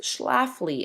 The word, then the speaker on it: Schlafly: And this is where we will see Phyllis Schlafly enter the picture. Schlafly is spelled Schlafy.